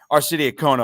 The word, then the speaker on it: Arcidiacono: Arcidiacono. I'm just going to give you the American pronunciation here tonight, although the Italian pronunciation, I guess, that goes against my Italian heritage now, Coach.